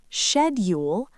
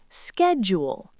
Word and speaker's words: schedule: Yes. UK often says schedule. US often says schedule. Schedule. Schedule. And both are correct.